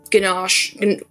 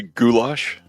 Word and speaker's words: goulash: So like last time I went it was like a a ginache. I always say it wrong. And like a salad and bread. I know I didn't say it right. Probably. Um are we trying to say goulash? Goulash. Oh my goodness. See I knew it was wrong.